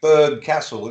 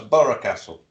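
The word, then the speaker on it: Burgh Castle: Well, we got Borough Castle round here, which is spelt B-U-R-G-H, but it's pronounced Borough. Yeah, you have as well, Micky. I know that. That caught me out. A lot of people say Berg Castle. It's not. It's Borough Castle.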